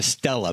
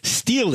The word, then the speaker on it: stele: the pool of Siloam, he calls it a stela, but that's maybe just his accent. Stele is, I guess, the right way to say it, right? That's one of the accepted ways. It's an older way to say it, but yeah, it comes from a Greek word, so of course there's